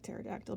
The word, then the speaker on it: pterodactyl: pterodactyl there i like pterodactyl because it's the subject of my favorite dinosaur joke why can't you hear pterodactyls use the bathroom because their pee is silent so once you've got